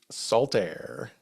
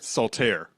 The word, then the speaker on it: Saltair: own Resort the great Sal air K that is that's one word Sal air salir okay not salt it's spelled like salt air right but the kerning just